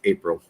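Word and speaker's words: Apprille: uh uh for my my last name is pronounced april uh but it's spelled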